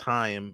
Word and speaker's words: Chaim: Chaim, and it's pronounced Chaim, is the manager.